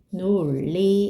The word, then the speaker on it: 논리: 2번은 뭐라고 발음되죠? 논리 이렇게 발음되죠.